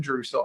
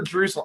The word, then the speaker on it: Drussel: today's guest Mr Aaron drussel and I always say it wrong is it drussel or drussel I I screw this up all the time it just rhymes with muscle Ah that's how I